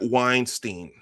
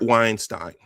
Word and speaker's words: Weinstein: Brett Weinstein. Let me blow this up. Brett Samuel Weinstein. Weinstein. See, I'm trying to find an uh uh a middle ground between the two pronunciations. I'll just say Weinstein.